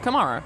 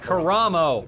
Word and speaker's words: Karamo: Kamara. Karamo.